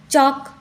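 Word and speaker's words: chalk: भी L silent Fock य पर भी एल साइलेंट है चौक चौक में भी एल साइलेंट होता है यक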